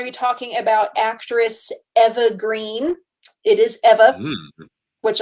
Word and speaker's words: Eva: It's like, oh, it's Eva, it's not Eva. I've been saying it wrong this whole time.